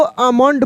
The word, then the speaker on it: almond: तो यहाँ पे एल के बाद एम वाला रूल लगेगा, क्योंकि एल के तुरंत बाद एम है, तो यहाँ एल साइलेंट हो जाएगा। तो हम लोग इसको आमंड पढ़ देंगे।